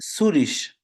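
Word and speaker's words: Zürich: Who wants to, wohnst du in Zurich না যা English না, এটা জার্মান উচ্চারণ হবে, জার্মানির ভিতরে মানে জার্মান স্পিকিং এলাকা তো। ইন Mhm. সুরিশ, Zurich সুরিশ।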